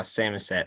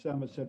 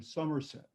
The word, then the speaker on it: Samoset: reasons I like the fact that we have Samoset Road is whenever I'm describing where I live on the telephone, people always mistake it for Somerset. And so I have to respell it and say, no, it's Samosет.